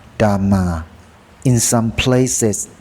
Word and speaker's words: Dhamma: In English, it's transliterated from Pali as Dhamma, pronounced Dhamma.